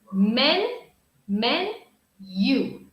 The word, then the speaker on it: menu: say menu menu but in American English we say almost with a Y sound men you like you men you menu menu what picture